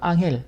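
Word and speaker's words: Ángel: 번째 나오는 건 엔젤인데 남미에서는 이걸 앙헬 우리식으로 하면 우리 한국 발음으로 앙헬 폭포가 되는 것입니다 세계에서 가장 높은 폭포를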